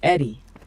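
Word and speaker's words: ED-E: What he's talking about is Ed, pronounced Eddie, the floating eyeball bot from Repcon that eventually becomes one of your best companions.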